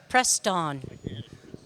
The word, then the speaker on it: Preston: please correct me Preston Preston okay yes like the antifreeze if for anybody that's